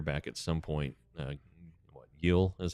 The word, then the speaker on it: Gil: Uh, Yel is how it's pronounced. G I L. Yel, Luis Yel.